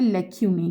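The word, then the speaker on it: lacunae: is known as लेक्यूनी एल ए सी यू एन ए ई इसको कैसे pronounce करना है लेक्यूनी ठीक है लेक्यूनी एन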